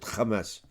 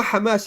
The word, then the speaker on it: Hamas: in the West Bank no Kamas this is how the Jews pronounce it Kamas there's no Hamas in the West Bank they killed still 250